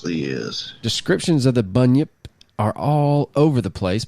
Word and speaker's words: bunyip: Yip and according to bunny Yip just the way you spell it b u n y i p bunny Yip or maybe bunyip Not bunny Yip anyway the bunyip according